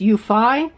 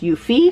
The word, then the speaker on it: Eufy: commenters that commented in I was calling this you fie and it's my understanding the proper pronunciation is you fee so thank you for that but